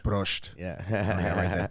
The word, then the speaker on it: Prost: Prost. Prost.